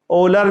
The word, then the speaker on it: Euler: आज जो वीडियो बना रहे हैं हम ये आइलर फार्मूला या आइलर रिलेशन के बारे में। ओलर भी पढ़ते हैं इसको, प्रोनाउंसिएशन कैसा भी कर लो आप, कुछ भी फ़र्क पड़ने वाला नहीं है।